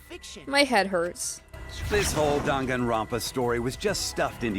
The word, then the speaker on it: Danganronpa: it makes me realize all this time I've been saying it wrong I've been saying dank and robots danganronpa I've only been playing like